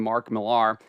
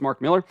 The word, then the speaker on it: Millar: to catch myself there I always want to kind of call him Mark Millar because that's how it's spelled but it's Mark Miller uh he's making headlines